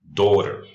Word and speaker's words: daughter: For example, daughter. We got D-A-U, G-H in English in the middle is silent. And then we got the T, and then we got another vowel, which is E. So it sounds daughter.